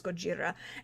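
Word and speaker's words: ゴジラ: me I know that is how to actually pronounce his name is Gojira and his he is a kaiju yeah but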